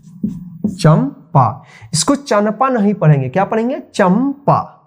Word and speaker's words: चंपा: जैसे चंपा, चंपा, इसको चंपा नहीं पढ़ेंगे, क्या पढ़ेंगे, चंपा। देखिए सी एच से च और इसके लिए ए एम लगेगा क्योंकि यहाँ पे उच्चारण हो रहा है चंपा, चंपा नहीं चंपा, तो ए एम और